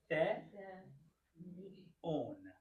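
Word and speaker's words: θεόν: So how would you pronounce this? The, on. Yeah, this is the ni. That's good. But this is the vowel that we're using. So it's the, on. Good.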